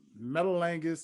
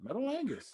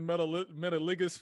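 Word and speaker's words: Metalingus: on my playlist come on now this list metal angus is truly one of the greatest theme songs that's how you pronounce it yeah metal angus i've been calling it metal metallicus for the longest it's okay ultrabridge no offense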